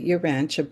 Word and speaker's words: Urantia: First of all, the name is the Uranche book and it's spelled U R A N T I A.